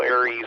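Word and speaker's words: ARES: a-r-e-s net meets uh for those of you who aren't sure what a res is it's what most people call aries nowadays and that's spelled are yes but it's the american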